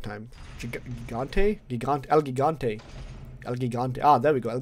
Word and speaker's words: El Gigante: El Gigante. Ah, there we go. El Gigante. That's what it's pronounced as.